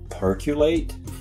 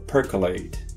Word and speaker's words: percolate: Stimulate, simulate, regulate, then percolate? No, percolate.